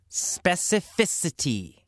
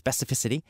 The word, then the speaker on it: specificity: Specificity. A little difficult to pronounce, specificity. In fact, many native speakers have trouble pronouncing this word, especially if you say it fast in a sentence.